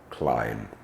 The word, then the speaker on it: climb: verb to climb uh ends in the letter B but is not sounded and it comes out as long vowel climb um so it's it's